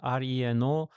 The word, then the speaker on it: Reno: Yes, at first I also thought actually it's Renault, but it's spelled differently. It's Reno.